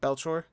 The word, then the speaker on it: Belcourt: Marco Belcourt, is that how you say his name? Yeah, Belchor.